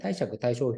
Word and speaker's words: 貸借対照表: に乗っかっていますこれでね貸借対照表と読むんですねということ